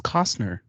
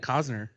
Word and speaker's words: Costner: he said kosner it's costner i do a silent t there's no t i mean there is